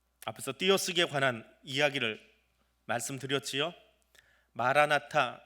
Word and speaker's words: 마라나타: 마라나타, 이 단어는 아람어 두 개를 합쳐서 만들어 놓은 단어입니다. 마라나타라고 읽을 수 있습니다. 타를 뒤에 따로 하나 빼서 발음을 하는 경우입니다.